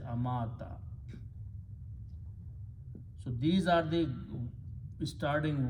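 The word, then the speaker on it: أَمَاتَ: Here, waw with a fataha or zabar has the sound of alif. So we change this to a vertical alif and pronounce as amata.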